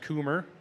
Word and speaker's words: Kummer: We forgot to check with Theo, but last night he uh let us know that it's pronounced Cummer.